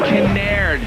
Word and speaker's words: Kinnaird: Kinnaird is how you say it, and Dane Kinnaird aired it out, going off the side of the motorcycle, sidewinder.